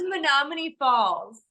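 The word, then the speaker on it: Menomonee Falls: you know what it's monomane Falls it's a lot growing up like learning how to spell it they always said me no money but money is with two e instead of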